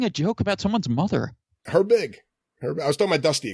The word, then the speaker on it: Herbig: gr b IG okay you pronounces it as if her and big were two different words George Herbig the second herb you